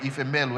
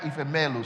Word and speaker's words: Ifemelu: Ifemelu. Everybody got that? Ifemelu.